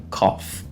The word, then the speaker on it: cough: difícil de pronunciar, mas a escrita dela é bem divergente com o que a gente vai pronunciar, que é a palavra cough. E ela é escrita dessa forma, ok? Então, cough, que seria aqui tosse. Então a gente tem aqui esse co, e esse F mudo no final.